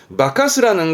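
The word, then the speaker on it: 化かす: 뒤에 스가 나올 땐 발음은 바카스라는 건 앞에 있던 바케루가 변장하는 거라면 바카스는 변화의 사람을 속이는 또는 뭐 홀리는, 정신을 홀리는 거라서 예를 들어서 뭐 도깨비한테 홀렸다?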